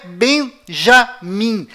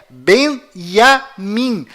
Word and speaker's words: בנימין: Além disto, não é Benjamim. A pronúncia correta é Benjamim. Pois lembre-se, até hoje não existe em hebraico nenhuma letra com som de J.